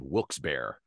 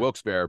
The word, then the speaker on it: Wilkes-Barre: northeast Pennsylvania um a little town outside of Wilkes-Barre would be like the next biggest town it